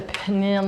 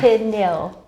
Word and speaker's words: pineal: interesting um so are you gonna put the pinion nail how do you say pineal this is why you do the talking pin nail okay gland yes on the yeah yeah we'll